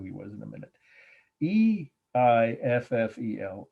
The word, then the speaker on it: Eiffel: was in a minute e i f f e l eiffel that's how it's pronounced and of course i'm sure you all know the title the i will tower 1889.